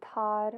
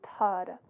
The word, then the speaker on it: Tar: So the mantra for this is Sat, S-A-T, Kar, K-A-R, and then Tar, which phonetically is T-A-A-R.